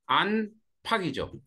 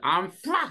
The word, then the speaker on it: 안팎: 자, 안 팍이죠. 자, 원래는 요렇게 쓰죠. 그런데 읽기는 요렇게 읽죠. 그죠? 암팍 이렇게 하지 않잖아, 그죠? 암팍이죠, 암팍.